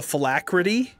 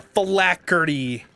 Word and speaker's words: phylactery: There's a thing called a phylacrity. A phylacrity? Phylacrity. And it's like what a lich uses to keep his soul alive. And this guy called it a phylacrity. Oh. Yeah. That's terrible. A phylactery.